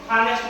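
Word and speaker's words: honest: ಇಸ್ is dash man ಹಾನೆಸ್ಟ್ ಮ್ಯಾನ್ ನೋಡ್ರಿ Ramesh is ಆನ್ ಹಾನೆಸ್ಟ್ ಮ್ಯಾನ್ ಯಾಕೆ ಅಂತಂದ್ರೆ ನೋಡ್ರಿ ಇಲ್ಲಿ ಇಲ್ಲಿ ಉಚ್ಚಾರಣ ಅಕ್ಷರ ಏನೈತಿ ಹಾನೆಸ್ಟ್ ಇದೆ ಓವೆಲ್ ಸೌಂಡ್ ಕೊಡುತ್ತೆ ಎಚ್ ಸೈಲೆಂಟ್ ಆಗುತ್ತೆ ಅದಕ್ಕೋಸ್ಕರ ಯಾನ್ ಬಳಸಿದೀನಿ ಶಿ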